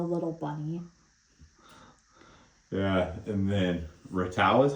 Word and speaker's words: Ratau: Yeah, and then Ratau is how you say his name?